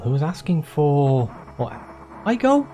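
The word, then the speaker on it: Aigul: There was a man in iGold who was asking for, what, iGold? That's how you say it, A-I-G-U-L.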